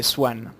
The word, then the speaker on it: Soan: Chan ça prononcean mais c'est Swan en fait ça s'écrit s O A n c'est un nouveau clip